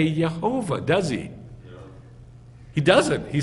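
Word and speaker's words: יהוה: Which has these letters, Yod, Hey, Vav, Hey, and it gets squashed together to Yeh-Ho-Vah.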